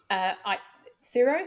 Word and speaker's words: Tsuro: And I am very excited to welcome our guest today, Frank Tsuro. Is that the correct pronunciation?